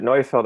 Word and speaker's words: Neufeld: from Mocha 5 years ago, and you said Neufeld, so I knew that was how you pronounce it. Yeah, but whenever I'm in Europe and people pronounce it Neufeld, I can't really correct them because that is